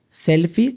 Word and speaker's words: selfie: Exacto, todos decimos selfie. Lo curioso es que para adaptarlo al español decimos selfie sin E al final, porque en español no la pronunciamos.